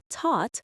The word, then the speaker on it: taught: Caught, taught, bought. The gh is silent and the vowel sound is long and open like the a in saw.